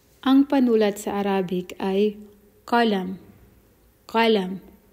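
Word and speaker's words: قلم: Sa formal na Arabic or formal Arabic, ginagamit nila ay qalam. Sa Saudi dialect naman, pinopronounce nila ito ng galam. Imbis na ka, ga. Sa Arabic Fusha or formal Arabic ay ka, qalam. Sa Saudi dialect ay galam.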